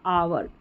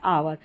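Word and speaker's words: hour: यहां पर H silent है।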